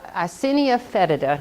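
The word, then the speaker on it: Eisenia fetida: composting earthworms are called red wigglers or assinia icinia fetida is how you say that yes ma'am they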